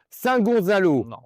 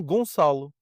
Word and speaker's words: Gonçalo: On est dans le Flegzi de Saint-Gonzalo. Non, on n'est pas à Saint-Gonzalo, c'est trop français comme j'ai prononcé. Freguesia Flegzi de de São Gonçalo.